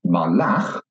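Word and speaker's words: מָלַךְ: But if I take the same consonants and put in some different vowels, malach, he ruled, then you can hear that the stress is at the end of the word.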